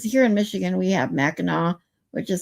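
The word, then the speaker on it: Mackinac: It sounds different than the way it looks cuz here in Michigan we have Meno which is spelled Macinack.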